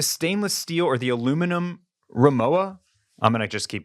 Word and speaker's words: Rimowa: I've always called this Rimowa. Okay. I am hearing people online call it Remova. Okay. Pronouncing that W European style as a V.